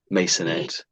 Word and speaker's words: maisonette: Masonette. I'm in the habit of putting a Z there.